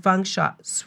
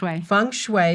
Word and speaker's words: feng shui: also a lead and fun shot which way see i was saying it wrong feng shui certified correct so can you just